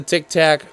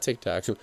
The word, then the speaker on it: Tic Tac: try again is the tic tac bmw i said it right this time not tick tock but the tic tac bmw just about side